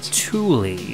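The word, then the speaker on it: Thule: name or yeah yeah I think it's pronounced Tuli if I'm not mistaken see those ski racks it's spelled the same way t h u l e they make like sports equipment and that's pronounced Tulie so okay okay so all right so here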